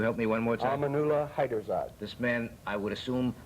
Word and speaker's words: Amaunullah Haiderzad: And this man, whose name I wouldn't dare to pronounce, you help me one more time? Amaunullah Haiderzad.